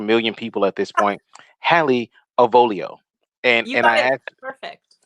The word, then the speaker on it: Hallie Avolio: name to a million people at this point halle avolio and and i actually perfect thank you because i had mike peterano uh pronounce it for me like the first time